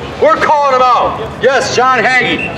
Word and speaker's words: John Hagee: hagee false prophet we're calling him out yes john haggy john haggy pronounced promotes zionism he promotes zionism he says